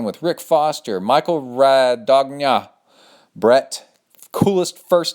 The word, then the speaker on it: Brett: I'm going to change how we spell this so people quit calling me brat and say it correctly. And he is Brett.